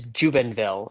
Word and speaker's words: Jubenville: Last name is Jubenville. So honestly, like how it's spelled essentially.